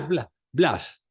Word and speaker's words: Blaise: Blas Pascal, pero se escribe Blaise. Se le pronuncia Blas. Blas, ¿no?